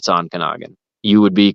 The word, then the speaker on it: Ontonagon: any of this stuff up, but it is Ontonagon. I said Ontonagon. I apologize. That's what I heard as a kid. So not having had to look any of this stuff up, it's Ontonagon.